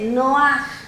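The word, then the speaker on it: נח: Noé la palabra Noé en el hebreo se dice no Ah y se escribe con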